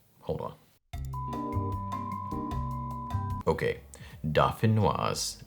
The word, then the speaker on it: dauphinoise: This is vegan garlic and herb potato gratin, aka Dauphinoise or Dauphinoise. Hold on. Okay, Dauphinoise is like the French version of how to say this dish with 87% accuracy.